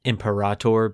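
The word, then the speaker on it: Imperator: Which, you know, in high Gothic you would pronounce it empirator, but it just means emperor.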